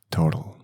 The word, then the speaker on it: total: In Spanish, the pronunciation is total. The letter T had more accent. Total. Total. It's soft, but in Spanish it's more strong.